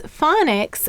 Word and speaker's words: phonics: Now you'll notice phonics and telephone have the same root. They have the phone root. And here it's pronounced phone and here it's fawn.